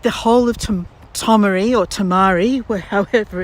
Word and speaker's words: Tomaree: I'm never sure whether it's Tamari or Tomaree, but I think it's Tomaree.